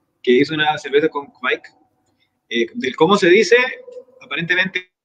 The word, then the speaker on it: Kveik: hizo una cerveza con Kvik. Del cómo se dice, aparentemente incluso hay variaciones dentro de Noruega. Yo busqué en unos videos, vi que se pronunciaba como Kvik, pero bueno, es nadie, no hay ningún especialista por ahí.